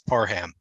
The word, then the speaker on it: Parham: I've always called him Parham. So now I've learned he corrected us. It's Parham. I'm glad that he put out that clarification because we could have gone years without realizing the correct pronunciation.